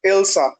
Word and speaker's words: Elsa: cousin's name also Elsa be pronounced as Ilsa not Elsa but the Spelling's are